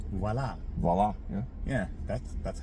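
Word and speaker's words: voilà: People pronounce French words different, too. Yeah. Like voyola. Mhm. But it's voila.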